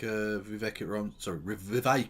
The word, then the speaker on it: Vivek: And it's even more pathetic from weird little fucking bootlickers like Vivek. It rhymes with cake.